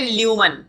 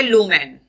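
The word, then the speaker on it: lumen: इस स्ट्रक्चर को बोलते हैं ल्यूमन। क्या बोलते हैं, ल्यूमन। इसको अगर सही प्रोनाउंसिएट करना है तो तुम इसको बोलोगे लूमेन। क्या बोलोगे, लूमेन।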